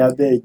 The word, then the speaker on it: Abeg: You hear me keep saying begging is It's because it rhymes with the name, right? Abeg.